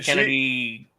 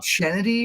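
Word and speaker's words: Chennedy: Oh, Kennedy. It's Kennedy or something. Yeah, or is it pronounced Kennedy? Yeah. Okay, it's CH.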